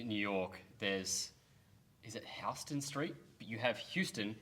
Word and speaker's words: Houston: what street full disclosure i was saying houston for so long until one of my friends like started working a lot like retail down there started working down there and he was like yo it's actually houston i was like no